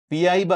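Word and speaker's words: piraíba: മീനുണ്ട് ഒരു ആമസോൺ മത്സ്യമാണ് പിരൈബ എന്നാണ് ആ മത്സ്യത്തിന്റെ പേര് പിയാബ എന്നൊക്കെ ഇതിനൊരു ഉച്ചാരണം ഉണ്ട് പക്ഷേ പുറം രാജ്യങ്ങളിൽ ഉള്ളവർ കൂടുതലും ഉപയോഗിക്കുന്നത് പിരൈബ എന്ന് പറഞ്ഞ ഒരു ഉച്ചാരണമാണ് പേരാണ് ഈ പിരൈബ മത്സ്യത്തിന്റെ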